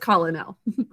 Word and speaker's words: colonel: Okay, Colonel Mustard, or just Colonel is the way we're going to sound it out. Colonel, 3 syllables.